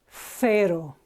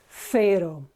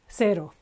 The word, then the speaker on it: cero: Okay, written with a C, and because it's followed by an E, it's pronounced cero. Okay, TH sound as in Thursday, thank you, cero. Okay. In Latin America, it will be just a simple S, cero.